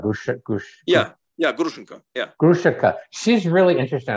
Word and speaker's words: Grushenka: Correct my pronunciation, because you have an accent. Grushenka, Grushenka, yeah.